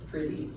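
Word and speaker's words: Priddy: Now, I'm going to introduce you to Pretty Meeks, and his name is spelled P-R-I-D-D-Y, Pretty.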